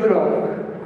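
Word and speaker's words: 祝融: Vyslovuje se to žurong.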